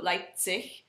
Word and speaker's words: Leipzig: The Z is pronounced with a TS sort of sound. So Leipzig, or Zerbst, or Zwickau.